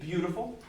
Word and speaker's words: beautiful: probably don't have friends they're putting the emphasis on the wrong syllable right everybody say with me beautiful beautiful again it's not